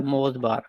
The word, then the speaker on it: MozBar: सर इसका spelling क्या है? MOZBAR, मोज़बार।